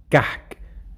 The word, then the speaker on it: كعك: And by the way, كعك in Masri is pronounced كحك. So the عين becomes ح in Masri.